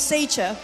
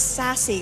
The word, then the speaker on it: Sassy: to start off with Sacher. Why Sacher? Did I pronounce that right? Sacer? Sacer? How do you pronounce the name? Sassy. It's Sassy, guys. Sassy. Not Sacher, it's Sassy, okay?